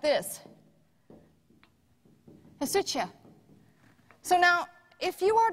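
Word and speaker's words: ἡσυχία: It is speaking of the wife, and the word being used is not this word, but phonetically it looks like this. Hesutia.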